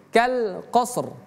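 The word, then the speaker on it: القصر: Jadi bacanya kal qos r ada rnya. Jadi kal qasr kal qos r qos mas dapatkan dulu shadnya qos qos baru qosr qasr seperti itu.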